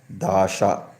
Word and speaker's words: Dasa: The people mentioned earliest in Sanskrit literature are called Dasa or Dasyu, also written as Dasha, pronounced as Dasha.